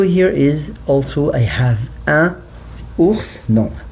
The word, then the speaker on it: un ours: So here is also I have un ours, no, un ours, un ours.